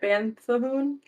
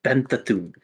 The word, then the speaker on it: Banthahoom: Planet Banthahoon? It's not it's Banthahoom. Banthathum? You're mispronouncing the second U.